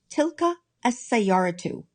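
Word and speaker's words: تلك السيارةُ: It only takes one vowel marker and is pronounced tilka as-sayyaratu.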